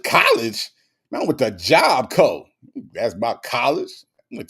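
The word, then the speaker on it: Job Corps: Prima Wanda said Miss Kim Native said it's pronounced Job Co. Okay. It's Job Co. No, there's no core. It's not Job Core.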